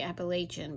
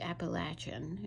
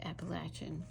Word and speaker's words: Appalachian: set in Appalachia Appalachia for some reason people say Appalachian but it's really Appalachian is how you say it Appalachian so I'm excited about